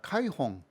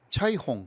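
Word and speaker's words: 彩虹: 카이홍. 카이는 그냥 진짜 중국 발음으로는 이거 차이홍.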